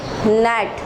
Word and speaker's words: gnat: ये आपको एग्जाम्पल दी हुई है, GNAT, नेट। अब इसमें क्या है देखें, G साइलेंट है ना।